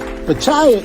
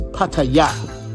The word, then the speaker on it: Pattaya: And just so you guys know, the proper way to say it is Pattaya, not Pattaya. But Americans say Pattaya, but it's really Pattaya.